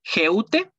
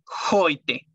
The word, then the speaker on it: heute: Luego tenemos la EU, que se pronuncia como una OI. Por ejemplo, heute no se lee geute, se lee heute, que significa hoy.